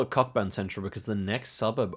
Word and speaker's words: Cockburn: Yeah, it is actually pronounced Coburn.